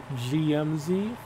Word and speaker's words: Jemusi: me um as well basically it's based on a GMC truck so yeah GMC however if you pronounce it in um Korean it's more like gmz or ji so that's how that came to be and that's kind of